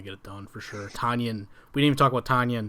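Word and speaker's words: Tonyan: No, but Yeah, it's Tunyon. Yeah. It rhymes with Funyon.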